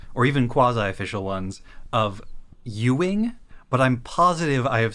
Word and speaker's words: Ewin: and official websites and stuff like that is Ewin, E-W-I-N. And I did my best, but I could not find any official examples, or even quasi-official ones, of Ewing, but I'm positive I have seen people write it that way online.